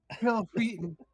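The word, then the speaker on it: Wil Wheaton: Wesley Crusher and I think you said his name wrong will weaton will weaton oh Will Wheaton um and uh we tried to show that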